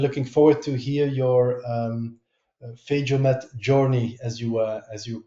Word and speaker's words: PhagoMed: PhagoMed is the German pronunciation. I guess when we came up with the name, we didn't think about that probably English-speaking people wouldn't really know how to pronounce it.